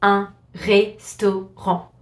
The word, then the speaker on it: restaurant: A restaurant in French is gonna be un restaurant. So it's the same word, we just don't pronounce the T at the end.